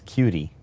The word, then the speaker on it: QT: And it's not cute. It's not cute. It's cutie.